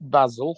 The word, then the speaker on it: Basil: Donald you've watched Faulty Towers you know it's pronounced Basel Basel name the name of course is definitely